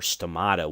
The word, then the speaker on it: stomata: remember we have these little stomates or stomato would be the right way to say that stomate is the singular